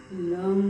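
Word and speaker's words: लं: साथियों, मूलाधार चक्र का बीज मंत्र है लम लम, और उसका उच्चारण करते हैं लम।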